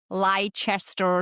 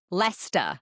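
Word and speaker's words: Leicester: It's up there with Lchester Square, which is Lester. I was going to say, do I get a chance? I was going to say Lyster. What is it? Lester.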